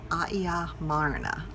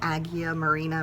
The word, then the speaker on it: Agia Marina: in a little town called Aia Marina. It looks like Agia Marina, but that's not how you say it.